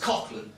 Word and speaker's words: Coughlan: I'm from, my last name's Coughlin, my last name is Irish, it's supposed to be pronounced Coughlin, but I don't want to